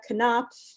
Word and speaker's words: Knopf: uh thank you leah knopf do you pronounce the k in connection yeah yeah it means button um thank